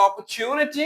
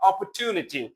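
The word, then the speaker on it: opportunity: হ্যাঁ, উচ্চারণটা দুইটা হয়, একটা হলো অপরচুনিটি আর একটা হলো অপরচুনিটি। বোথ আর কারেক্ট।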